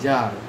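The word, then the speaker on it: czar: যেমন জার, রাশিয়ার সম্রাটদেরকে জার বলা হয়ে থাকে। সি জেড এ আর, সিটা সাইলেন্ট থাকে।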